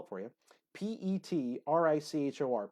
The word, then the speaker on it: petrichor: but it's called let me see I could spell it for you pe T Ric hor petrichor petrichor is what it is and so that